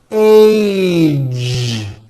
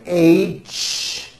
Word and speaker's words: age: Age. It's not H. It's age with a voiced ending.